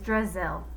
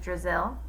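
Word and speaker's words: Drazil: drizzle it was just a little joke Brazil rhymes with drizzle and I thought it might help you remember my name Terrence laughed drizzle Brazil he shouted that's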